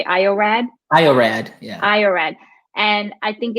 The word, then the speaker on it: iorad: IORad, yeah.